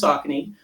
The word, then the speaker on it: Saucony: Um but I think as a good segue, it is pronounced Sakin.